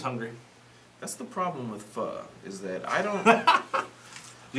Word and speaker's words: Pho: Pho is spelled P-H-O, not F-U-H. Pho.